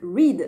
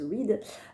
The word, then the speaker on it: Reid: Les 7 maris d'Evelyn Hugo de Taylor Jenkins Reid, donc Reid, je pense que ça se prononce Reid.